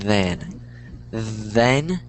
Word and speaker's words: then: sounds like sounds like Den that's how a lot of people pronounce it but it's the it's like then and then so it's the th sound that's kind of it's not a d it's the the then